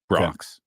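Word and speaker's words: Brach's: That's how they pronounce it. Brock's.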